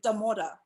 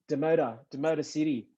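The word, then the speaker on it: Damodar City: Yeah, so You say it like a white person, Damora. Demota City.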